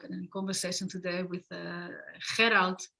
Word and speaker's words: Gerald: The reason why I decided to be in a dialogue and a conversation today with Gerald, that's how you pronounce the name of Gerald in Dutch.